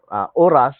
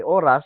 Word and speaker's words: horas: at least in Spanish, when you write an H, you are not supposed to pronounce the H, read the H verbally. Uh, so for instance, oras, we say oras, but when you spell that, it's Horas.